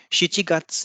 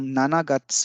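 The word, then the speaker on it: 七月: तो गात्स के साथ शिची का प्रयोग किया जाता है, ना कि नाना का। हम नाना गात्स नहीं कहेंगे, शिची गात्स कहेंगे।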